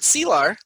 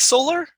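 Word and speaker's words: Selar: in this sequence to lieutenant silar which sounded like solar solar salar it's spelled s-e-l-a-r lieutenant solar md she's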